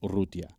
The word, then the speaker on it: Urrutia: Well, if you pronounce it in Spanish, it's Urrutia. Oh, got to roll that R.